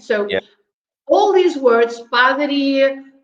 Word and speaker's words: padaria: Padaria. Padaria, you stress at the end. So all these words, padaria, pasteleria, cafeteria, merceria, livraria, and I could go on and on.